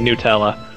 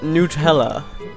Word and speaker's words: Nutella: is happening and apparently there are some Americans who pronounce Nutella they pronounce it Nella as if it were made from Hazel noes um that's how I've always heard it pronounced as Nutella oh God yeah I'm